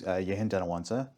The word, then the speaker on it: Yehen Dhanawansa: So, um so my name's Yintawansa.